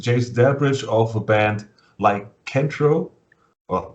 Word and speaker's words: Lycanthro: Yeah, the TH is a bitch for. Oh man, you actually pronounced it correctly though. There's people who have. I said in a few of the interviews I've done that I've heard 5 different pronunciations, so you actually said it correctly. The first one or the second one?